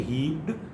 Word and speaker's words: heaped: Heaped, we say heaped, it is not d, but rather it is t.